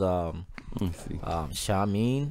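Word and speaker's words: Seamin: It was Shamin, it's spelled S-E-A-M-I-N.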